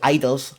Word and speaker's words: (G)I-DLE: is G which is idols Lion the G is silent takes mmmm I used to say G idol all the time now